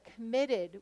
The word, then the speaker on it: committed: articulate it here's another committed which syllable is stressed MIT do you hear MIT committed so what would we